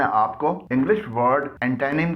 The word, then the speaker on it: antonym: एंटोनिम की pronunciation यानी तलफ़ुज़ है एंटेनिम, एंटेनिम, एंटेनिम, एंटेनिम, और पार्ट ऑफ स्पीच के लिहाज से ये नाउन है।